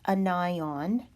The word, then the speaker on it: anion: what I'm doing here the first term is pronounced anion it looks like the word onion and I on anion and an ion is